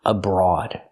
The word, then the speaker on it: abroad: Normally when we see OA together, it makes the long O sound, like road, coat, and boat. This is the rule. This is how OA is normally pronounced, with a long O. Again, road, coat, and boat. O. Use the long O. But abroad is different. You have OA making a different sound. It makes a sound aw, like on, off, call, and ball.